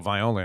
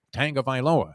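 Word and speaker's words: Tagovailoa: yeah i always want to throw a little viola in there but it's uh viloa and remember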